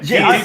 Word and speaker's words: djent: Gent. Yeah, Gent. I've never known how to pronounce that. I'm an old fucker, so I've no idea. Just think of it like gentlemen, you know?